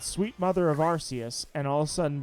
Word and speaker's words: Arceus: it Arceus and uh I always assumed it was archaeus then when uh silvalley came out and it had an ability called the rks system that's how I knew immediately I was like all right that's it guys the the this is put to rest the debate is over it is Arceus and even in the